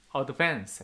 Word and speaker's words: advance: In advance 했습니다. second syllable 뭡니까?